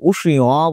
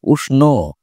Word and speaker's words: উষ্ণ: সুতরাং এখানে আমরা কিন্তু কৃষ্ণ, বিষ্ণু বা উষ্ণ বলছি না। আমরা বলছি কৃষ্ণ, বিষ্ণু, উষ্ণ। কেন বলছি? কারণ ওটা প্রকারান্তরে ন ছিল। সেই নই আমরা উচ্চারণ করছি।